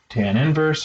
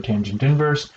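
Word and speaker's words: tan⁻¹: as tangent minus 1 which it pronounced as tan inverse or tangent inverse sometimes even a tan in some contexts but I'll write it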